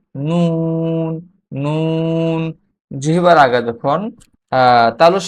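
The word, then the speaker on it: نون: এরপরের হরফটি হচ্ছে নুন, নুন, নুন, নুন। জিহ্বার আগা তার বরাবর উপরের তালুর সঙ্গে লাগিয়ে নুন, নুন।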